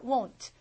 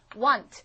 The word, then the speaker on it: won't: 이렇게 막 연습하실 때 이제 won 이렇게 하셔야 돼요 자 발음이 want I want 하고 다릅니다 이거는 want 한번 여러분이 W 발음 하고 한 번 나고 끝이에요 want 얘는요 두 번 모입니다 won won 이렇게 돼요 발음도 신경 쓰세요 so won sleep 이렇게